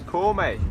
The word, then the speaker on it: Corme: This is Corme. That's how you pronounce it.